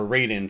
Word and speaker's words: Raiden: One of the most notorious ones is Raiden, or Raiden for some of us in North America, we might pronounce it that way.